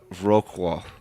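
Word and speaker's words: Wrocław: East Europe does yeah Wroclaw is actually pronounced Wroclaw real cool yeah it's rich really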